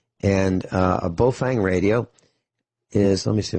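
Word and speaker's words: Baofeng: And the least expensive two-way radio, and we've talked about this last week, is made by a company called Bofang. And a Bofang radio is, let me see if I can find one.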